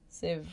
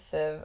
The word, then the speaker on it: sieve: Or sieve. I can't remember how I'm supposed to fucking pronounce that. Actually. Sieve. Sieve? Yes! Civ, right? Woo! It is Civ.